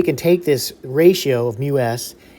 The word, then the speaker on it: mu: And it's pronounced mu, Greek letter mu.